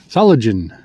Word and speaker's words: Solingen: Saligen. I'm trying to pronounce it like they do. Salagen.